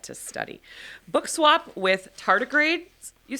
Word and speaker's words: tardigrade: I'm looking at how am I pronouncing this word? Oh, are you looking at the word tardigrade? Thank you. Okay. That's actually pretty much what I was going to say. Yeah, tardigrade, the little microscopic organism that lives in water,